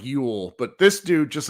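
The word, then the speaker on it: Llull: Sarah lets me know that Sergio it's pronounced like Yule, but this dude, just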